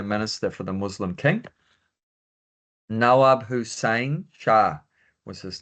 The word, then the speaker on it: Nawab: Nawab.